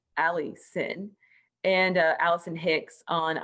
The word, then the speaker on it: Allycin: is allison hicks and my name is spelled absolutely bonkers it is a-l-l-y-c-i-n ali sin and uh allison hicks